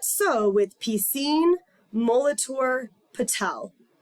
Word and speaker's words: Piscine: that not so with piscine Molitor Patel some thought it was P sing and that I was a Sikh and they wondered why